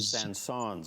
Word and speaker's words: Saint-Saëns: How do you pronounce the gentleman's last name? Saint-Saëns. Saint-Saëns.